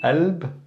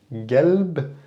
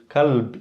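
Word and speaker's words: قلب: But in this case, qalb can be alb, it could be galb, it could be kalb even. Now be careful, if you pronounce it with a ka, the word kalb means dog, okay? Versus qalb, heart, or alb, or galb, okay?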